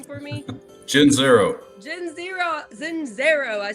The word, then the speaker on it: Gianzero: Gianzero.